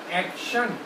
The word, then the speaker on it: action: अब इसके प्रोनाउंसिएशन देखिए, एप्पल, एक्शन, CT, और इसकी आवाज़ कैसी आ रही है? एक्शन, शाह की आवाज़ आ रही है। आप अगर इसको प्रोनाउंसिएशन भी हम सीखेंगे, एक्शन, आ का शा ना, एक्शन हम बोलते हैं। एक्टन नहीं होगा, एक्शन।